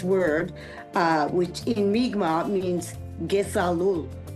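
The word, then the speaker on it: kesalul: which in Mi'kmaq means Gesalul. It's all one sound, Gesalul. In English, it means I love you. And the pronunciation is Ge-Sal-Ul.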